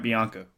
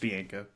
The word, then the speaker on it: Bianco: tournament every single interview continues to say Mike Bianca 19 seasons was I mean he's been told over and over and over and over again Bianca Bianca Bianca it's like dude it's just be inka please well I got